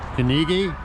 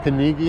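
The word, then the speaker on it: Книги: very much like Dunkin Donuts but it's not kigi that's that's pronounced kigi in Russian uh that mean bookstore Oz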